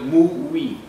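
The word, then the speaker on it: 무위: ami a kínaiból jön kínaiul ú úgy hívják hogy w way a mandarin kiejtés szerint és koreul mui ez szó szerint nem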